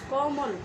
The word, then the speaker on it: কমল: ও এর মতো হবে, অর্থাৎ উচ্চারণটি হবে কমল, কমল না। দেখো আমি কীভাবে বলছি ক কে বলছি ক কিন্তু ক না, কমল, মটাকে সামান্য একটু ও এর মতো করে কমল এভাবে উচ্চারণ হবে।